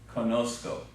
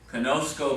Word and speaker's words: conozco: you know Conoco okay it basically picks up an X and becomes conozco conozco means I know but